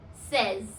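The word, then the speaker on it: seize: Number 16 is says. Says. S-A-Y-S. Says for the pronunciation.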